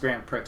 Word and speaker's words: Grand Prix: So, by the way, it is pronounced Grand Prix.